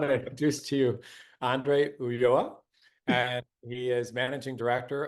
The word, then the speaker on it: Ulloa: going to learn all about Investment Banking and pronunciation in Spanish so I want to introduce to you Andre uoa and he is managing director of uh m&a